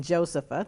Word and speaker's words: Josepha: When I've seen it as Josepha, it's been Josepha, the way I pronounce it, and that's been Black Forest German, has been the background of the person that had that name.